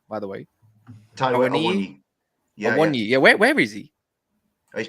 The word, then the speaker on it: Awoniyi: By the way, Awoniyi.